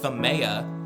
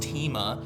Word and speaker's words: Themea: And joining us is not only a familiar face, but also our co-host of our first season, Sean Themea. Just kidding, I know it's pronounced Tima.